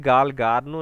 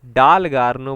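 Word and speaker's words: Dalgarno: पहली बात तो इसमें इन्होंने स्पेलिंग का मिस्टेक किया था, शाइन गालगार्नो नहीं बोलते हैं, शाइन डालगार्नो बोलते हैं, तो जी की जगह यहाँ पे डी होना चाहिए था, तो क्वेश्चन गलत इन्होंने प्रिंट किया है।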